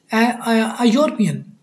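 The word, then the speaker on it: European: यूरोपियन, आप देखिए ये आ गया ना, ये तो एन आना चाहिए था, यहाँ पे यू की आवाज़ दे रहा है। अ यूरोपियन country pronounced यू रोपियन, यूरोपियन, ठीक है ना,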